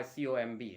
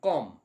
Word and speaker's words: comb: the market to buy comb now i went to the market it is not i want to buy com you will pronounce it as com beta ache into very